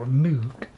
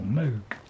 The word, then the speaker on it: Moog: It was invented by Moog, Mr. Moog, or Moog, as I think is the proper pronunciation, Mr. Moog.